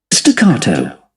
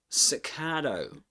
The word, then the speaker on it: staccato: Staccato. Stcato. That's British English. Staccato. Staccato. That's American English. One way of pronouncing it in American English. Staccato. Staccato. Though at the end does a flap T.